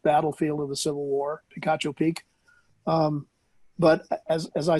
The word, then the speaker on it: Picacho: Can't Yeah, pronounce it. It's Picacho.